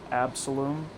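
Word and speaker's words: Absolomb: So, on my way to the gym, I was listening to this song called Absalom. It's got a silent B on the end.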